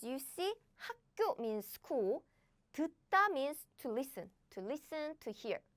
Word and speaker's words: 듣다: And this too, this is not 다, this is 따, 따, as in 듣다, 듣다.